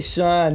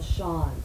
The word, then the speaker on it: Schon: your L Neil show it's really Sean you know is it Sean I'm saying it wrong well you know people have asked me two different times and I changed my mind now so I went back to shine oh great terrific probably